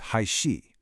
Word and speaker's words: 还是: The incorrect version of his sentence uses huozhe, but he was asking me a question. He wanted me to choose. The correct way to say it uses haishi. You're asking a question, so you have to use the question word for or.